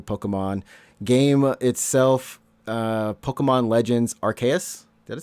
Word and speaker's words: Arceus: Pokemon Legends Arceus. Did I say his name? Arceus.